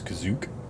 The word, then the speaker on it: Kashyyyk: Fun fact, the canonical pronunciation of the Wookiee home, the first pronunciation of the Wookiee homeworld is Kazook.